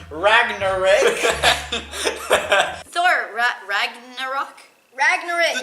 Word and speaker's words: Ragnarok: poem, Paul rudely interrupted me and said, "It's pronounced Ragnarok."